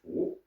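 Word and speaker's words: 吳: Our style is Wu, 3rd tone, and the other is Wu, 2nd tone.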